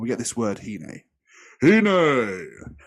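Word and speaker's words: הִנֵּה: Hine. I like it. I think that's how it should be pronounced, because this is the word. Behold.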